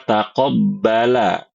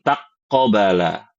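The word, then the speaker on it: تقبّل: Karena sering banyak yang salah bacanya ya, tasdidnya ketukar-tukar ya. Harusnya taqobbala bukan taqobala ya.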